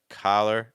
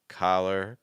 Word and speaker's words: collar: a look at this so again we had the a sound and then the schw sound so ah then an uh it's like a uh k color so again a collar color a collar color a collar color